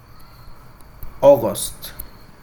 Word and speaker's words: August: escribe agosto en inglés tenemos la combinación de letras a u como ya le mencioné se pronuncia o aost es la pronunciación de